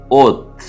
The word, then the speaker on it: אוֹת: இந்த நாளுக்கான எபிரேய வார்த்தை ஓத் என்பதாகும். அலஃப் வாவ் டாவ். உயிரெழுத்தோடு சேர்ந்து உச்சரிக்க வேண்டும் என்று சொன்னால் அலஃப் கோலம் வாவ் டாவ். இதை உச்சரிக்கும் விதம் ஓத்.